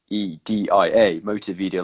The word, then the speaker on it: Motivedia: Motivedia, like motivational media, but Motivedia.